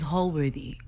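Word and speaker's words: Holworthy: lady the funny chef it's hall-worthy when you say it say it right that's right okay it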